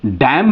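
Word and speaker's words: damn: क्यों हो रहा है क्योंकि एम के बाद एन है एम के बाद एन है तो इसलिए इसको हम डैम बोलेंगे और इसको कॉलम बोलेंगे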